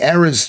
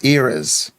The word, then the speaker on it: Eras: Eras. It's an era. It could be a Midwest pronunciation.